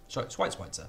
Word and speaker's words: Schweitzer: Schweitzer, that's a better way of pronouncing it.